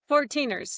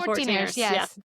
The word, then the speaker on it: 14ers: of the Colorado for how do you say the 14ers 14ers yeah the 14ers and the centennials so